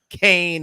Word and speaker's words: Kane: Kane is how you pronounce it.